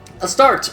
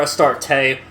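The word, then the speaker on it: Astarte: changed from melody to a start a start or a start tay uh either pronunciation works is another ancient middle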